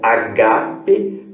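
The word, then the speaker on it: ἀγάπη: A próxima, que aparece 64 vezes, é agape. Esta palavra, ela tem a sua fonética na segunda sílaba, então ela se pronuncia como agape e ela significa amor.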